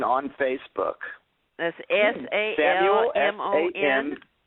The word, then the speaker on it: Salmon: me as salmon on Facebook that's s a l m o n s a l m s m u l salmon s a l m o n like the fish we can find you